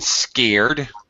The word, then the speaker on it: scared: Also, pronunciation, scared. Scared. Yeah, not scared, but scared. It's a one-syllable word, scared.